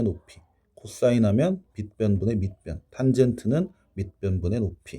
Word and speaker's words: 탄젠트: 자, 그래서 탄젠트 B. 요거는 탄젠트라고 읽어주면 되거든. 탄젠트.